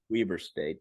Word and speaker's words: Weber: It's pronounced Weber State, but yeah, Utah.